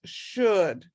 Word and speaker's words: should: is this one is should the s h is and then the d the o u is a sound but you don't pronounce that l so it's just should so that's something you